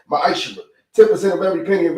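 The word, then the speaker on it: מעשר: Means tenth in Hebrew, and it's pronounced ma'ashra.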